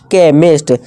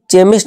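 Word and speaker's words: chemist: केमिस्ट। अब क्या आगे आवाज देगा हमारा? ये का आवाज देगा ना कि चेमिस्ट नहीं पढ़ेंगे देखिएगा दोस्तों इसे चेमिस्ट नहीं केमिस्ट का की आवाज चेमिस्ट यानी दवाइयां इस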